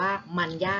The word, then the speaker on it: มรรยาท: ไป แล้ว นะ คะ มอ ม้า รอหัน ยอ ยักษ์ สระ อา ทอ ทะ หาน อ่าน ว่า มัน ยาก ไทย นะ ซึ่ง หมาย ถึง